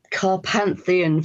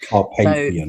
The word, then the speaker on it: Carpathian: So, the carp carpantheon forest. Carpathian. So, tell me a bit about Sorry, my pronunciation of everything is normally wrong.